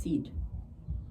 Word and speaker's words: said: Now, it's a very old English word, and it used to be pronounced said, but it's changed over time. Now it's pronounced said, okay?